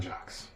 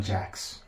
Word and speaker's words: Jacks: Jocks. Jacks. Jacks. That's how you pronounce it.